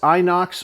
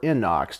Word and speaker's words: Inox: And it definitely is a beautiful one, a sexy looking firearm, the Beretta 92 FS Inox or Inox, depending on how you want to pronounce it.